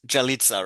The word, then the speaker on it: Yalitza: So yeah, first of all, it's Yalitza, right? Yes. Yep. Okay, if I pronounce it right, I'm sorry. German accent and yeah. It's No, all but good. Jalitza.